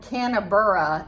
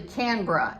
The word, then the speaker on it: Canberra: which is, if you read it, it's called Canberra, it looks like it is, but it's actually Canberra is how it's pronounced.